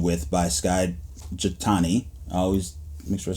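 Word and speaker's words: Skye Jethani: be walking through the book called with by Sky jatani I always make sure I say his name correctly Skye chatani um and it's a fantastic book and our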